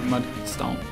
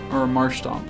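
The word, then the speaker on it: Marshtomp: one point went to Mudstomp. So, oh my gosh, he's Marshstomp. I kept saying his name wrong.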